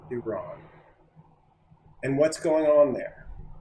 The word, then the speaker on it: Iran: Uh, starting with how you how you um pronounce Iran, not Iran, Iran, and what's going on